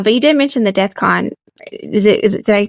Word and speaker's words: DEFCON: from there uh but you did mention the deathcon is it did I pronounce that correctly okay awesome exactly what is